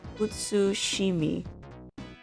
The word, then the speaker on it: Utsushimi: Yeah, utsu, you don't really have to pronounce the T. Utsushimi. You can if you want to, but it shouldn't be overemphasized because it's still a su pronunciation.